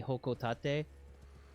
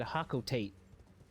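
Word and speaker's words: Hocotate: Because if it's the same in Japanese and it's supposed to have a Japanese-style pronunciation, then it would be Hokotate. But I grew up pronouncing it Hakotate.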